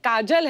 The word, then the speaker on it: Kajol: नाम है आपका काजोल काजल है ना बट काजल होता है काजोल हां बंगाली काजल बंगाली में ऐसे ही उसका प्रोनाउंसिएशन ऐसा पर बड़ा अच्छा लगता